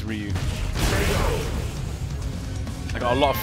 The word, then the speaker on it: Ryu: I did used to say Ryu a lot, yeah. But now it's Ryu.